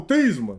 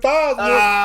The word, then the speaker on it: Theismann: Joe Theismann used to pronounce his name Joe Theismann. Yeah. And then, no, for real. And then his senior year, going for the Heisman, so they start pronouncing it Theismann.